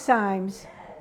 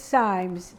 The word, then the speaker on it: Simes: country but it's pronounced Symes and that's how we pronounce it and we pronounced it just like we pronounced dime yeah it's it's it's Symes yep and we're very